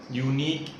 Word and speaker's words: unique: Unique starts with a vowel, but the pronunciation of unique is ya, y, and y is a consonant.